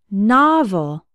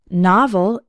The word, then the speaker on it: novel: words rock and not novel has two syllables and the stress is on the first one novel novel can be a noun